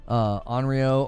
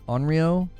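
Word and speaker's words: 怨霊: Onryo or Onryo? Either pronunciation is fine. I don't actually think it matters.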